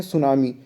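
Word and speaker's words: tsunami: सकती हैं उसे हम लोग दोस्तों बोलते हैं सुनामी सुनामी की स्पेलिंग बात करी थी का यह मिट्टी साइलेंट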